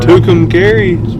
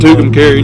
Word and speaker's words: Tucumcari: Tucumcari. Yeah. I think that's how you say it. Tucumcari, New Mexico.